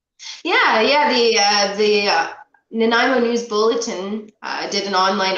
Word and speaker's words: Nanaimo: always pronounce it wrong i'm always like nanaimo like the bar like the namo bar right does it that's